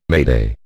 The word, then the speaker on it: m'aider: This comes from the French word m'aider, meaning help me, and is pronounced, approximately, Mayday.